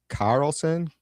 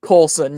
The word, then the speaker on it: Coulson: We have Carlson. Coulson. Coulson, can you hear me? Yeah. Yeah, that that's how you pronounce my name. It's It's Coulson. Yeah.